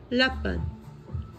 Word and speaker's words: lapin: Lapin.